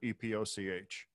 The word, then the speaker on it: epoch: number of seconds since the how do you pronounce the word EPOC H epoch so you get the number of seconds